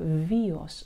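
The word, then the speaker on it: βίος: В греческом языке есть такое слово, правда, греки произносят его с буковкой «в», «виос», «виос», они говорят.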